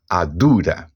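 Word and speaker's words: àdúrà: Adura, a primeira sílaba a e a última ará tem um tom mais baixo, lendo dessa forma, adura.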